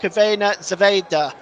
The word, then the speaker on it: Crvena zvezda: That's pronounced Crvena Zvezda, by the way, in case you're seeing that on your screen.